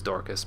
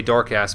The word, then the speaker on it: Dorcas: the name it is the correct pronunciation is Dorcas but sometimes I slip and say dork ass because it's funny yeah